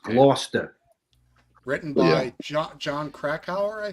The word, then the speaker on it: Gloucester: great film I love that film it's it's pronounced loster written by John krackow I think right The